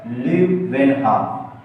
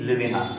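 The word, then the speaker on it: Leeuwenhoek: किसने की, तो एक साइंटिस्ट और है बेटा, ल्यूवेनहाम। थोड़ा सा नाम इसका जो है ल्यूवेनहाम, LEEUVENHAM। HOEK, खतरनाक है, स्पेलिंग मिला लीजिएगा।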